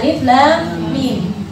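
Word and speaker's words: الم: Awal Al-Baqarah dibacanya Alif Lam Mim. Awal Al-Insyirah dibacanya atau awal Al-Fil dibacanya Alam.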